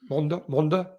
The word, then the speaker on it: Mende: Then Saint Etienne to Mende. How do you say it, Scotty? You say Monde, yeah.